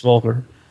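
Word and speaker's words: Voelker: Is that how you say it, Volker? Yes, Volker.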